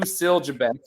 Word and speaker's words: Siljabek: It is pronounced exactly the way it's spelled. So we got Sue Siljabek with us from Siena Heights.